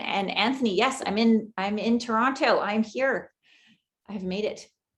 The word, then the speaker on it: Toronto: Natasha, you can tell you're not from there because you pronounce the T in Toronto. Yes, it's that's Toronto.